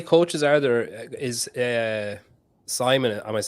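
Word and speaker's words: Simen: and how many coaches are there is uh Simon I was saying his name right because I know it's spelled s-i-m-e-n so is he your coach he's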